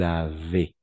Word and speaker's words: avez: Et ici, le S, à la fin, on ne prononce jamais. De la même façon ici, le Z, on ne prononce jamais. Nous avons, vous avez.